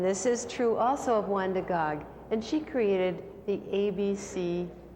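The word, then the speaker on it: Wanda Gág: her name and she always signed her name wanda gog she wanted to be sure that people pronounce it accurately and she illustrated this very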